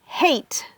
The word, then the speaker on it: hate: pour le son H, il faut bien prononcer le H parce que ça peut changer le mot que on dit. Si tu dis hate avec un H, c'est détester. I hate, par exemple, broccoli. I hate broccoli. Mais si tu dis I ate broccoli, ça veut dire que j'ai mangé le brocoli. Donc ça change la phrase complètement.